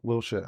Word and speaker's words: Wiltshire: Well, Wiltshire. So my family. How's it pronounced? Wiltshire. Wiltshire. It's like the county in England.